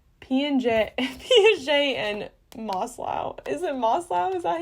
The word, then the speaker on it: Maslow: Is it Maslow?